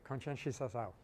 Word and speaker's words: Conscientização: It was definitely what Paulo Freire calls conscientizao. I'm probably not pronouncing that very well. Not bad? Pretty fair? How would you say it, Colin? There you go, conscientizao.